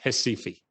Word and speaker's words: Recife: And this was done and done brilliantly in a campaign in Brazil, in the town in the red box, pronounced in Portuguese, Recife.